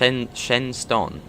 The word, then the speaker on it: Shenstone: Oh, it's pronounced Shenston.